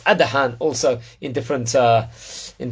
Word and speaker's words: Adahan: more about him Rabbi about the great RAB pronounced Adan also in different uh